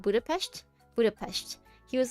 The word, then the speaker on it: Budapest: Budapestt. Budapest. He was like he was like he he he was like Americans say Americans say Budapestt. So weird.